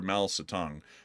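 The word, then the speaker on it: 毛泽东: And apparently this was published in Quotations from Chairman Mao Zedong, or Mao Zedong, is the proper way to say that. I butchered it.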